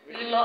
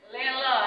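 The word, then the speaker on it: Leeloo: Jadi bisa di-download di Play Store, Lilo App, L-E-E-L-O-O ya. Cari di Play Store, L-E-E-L-O-O. Nah, cari nih Lilo. Lelo ya, misalnya Lelo, tapi bacanya Lilo ya.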